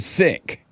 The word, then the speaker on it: Sikh: they call the religion sick I'm not sure he said is spelled s-i-k-h but it is pronounced s-i-c-k that's true in haste